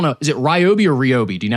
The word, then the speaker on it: Ryobi: So, like for instance, I don't know, is it Ryobi or Robi? Do you know how to say it? I think it's Ryobi.